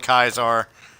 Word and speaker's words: Caesar: of the people in the game call it Kaiser. I call it Caesar because that's the way you spell it.